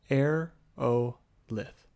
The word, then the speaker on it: Aerolith: has yet demonstrated this aerolith Basin pronounced a o lith a region of thadon